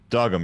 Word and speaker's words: Dogum: Dogum.